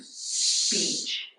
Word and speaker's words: speech: the shipment yes Peach it's really just one syllable one sound so the first two have to be kind of combined speech you don't want to say speech that makes two syllables so do speech speech